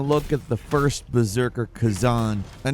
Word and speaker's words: Khazan: I I have only recently learned how to pronounce Kazan. I thought it was Kazen before, but rest assured, I've